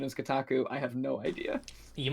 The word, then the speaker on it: Kotaku: Well, thing is it's it's Japanese syllables and there's no stress to my understanding in the Japanese, so each syllable has equal stress. Um, so I try and say it kotaku like like without any stress, but I might also